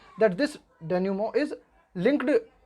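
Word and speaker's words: dénouement: डेन्यूमो का मतलब होता है, इसको इस स्पेलिंग को याद कर लेना, है ना, थोड़ा सा याद करने की दृष्टि से पढ़ लेना, इसे डिनोयूमेंट पढ़ लेना, इसे याद करने की दृष्टि से। लेकिन जब हम इसका प्रोनाउंसिएशन करेंगे ना तो इसे बोलेंगे डेन्यूमो।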